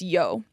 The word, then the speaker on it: Jo: Our first little section is going to be about a woman named Janetja Johanna Schaft, otherwise known as Yo, J-O, but it's pronounced like a Y, yeah.